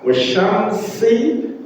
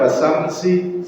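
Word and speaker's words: والشمس: Banyak wasyamsi, shin sama sin, wasyamsi, kebanyakan wasamsi, salah.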